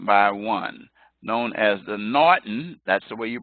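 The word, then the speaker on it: M'Naghten: take them one by one known as the Naughton that's the way you pronounce the apostrophe D in HGH TV it's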